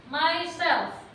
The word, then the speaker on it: myself: Myself. myself. 3, 2, 1. Myself. Myself. Ya, self tapi ada F di terakhir ya. Jangan ditinggal.